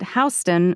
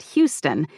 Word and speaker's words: Houston: York City is mentioned I need to know to say it hon not Houston even though it's spelled